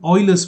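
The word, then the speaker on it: Euler: by 2 now I hope you know the Oilers formula uh it's written as u e l r it's pronounced Oiler I will just uh you know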